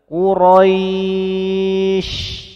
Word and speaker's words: Quraisy: Quraisy. Kilauan huruf di akhir menjadi sukun, sehingga memenuhi sifat tafashi-nya. Penyebaran udara di sekitar mulut kita. Quraisy. Bagus. Namun jangan berlebihan dan jangan terlalu lama. Quraisy.